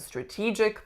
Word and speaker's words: strategic: the second one strategic the problem that I see with this word is usually not the incorrect winning syllable it's actually usually the sound that my clients choose to make on the winning syllable so in this word we have E our winner strategic but I often hear strategic but in fact we want strategic so next up number